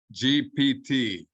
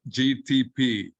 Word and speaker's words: GPT: One is that it is GPT, Generative Pre-trained Transformers. It's not GTP, as you were pronouncing. The P goes before the T.